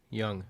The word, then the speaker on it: Jung: How do you pronounce it? Young.